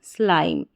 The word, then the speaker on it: slime: को म, एम और जो लास्ट में ई है वो साइलेंट है, तो एम ई को साथ में ले लें या ई को छोड़ दें, क्योंकि ई तो साइलेंट है, ई का साउंड नहीं होगा यहाँ पर, प्रोनाउंस नहीं होगा ये, एम को म पढ़ा, तो पूरी स्पेलिंग हमारी बन गई स्लाइम, स्लाइम।